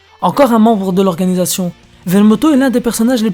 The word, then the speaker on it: Vermouth: Vermouth ou Bermoto, prononcé à la japonaise. Encore un membre de l'organisation. Vermoto est l'un des personnages les plus intrigants du manga.